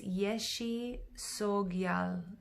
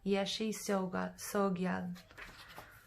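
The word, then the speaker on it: Yeshe Tsogyal: And the pronunciation here is Yeshi Sogyal. Yeshi Sogyal.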